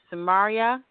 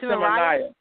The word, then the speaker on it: Simonaya: So I'm sorry to interrupt you, but so Brother Samaria? Simonaya. How do you say it again? It's pronounced Simonaya. Okay, shalom, brother.